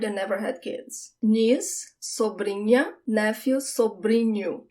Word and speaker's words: sobrinha: The sound of the NH, it's also not the tip of my tongue that touches the roof of my mouth. Sobrinha. It's the middle of my tongue. You could think about it as if there is a Y there instead of the H, but it's subtle.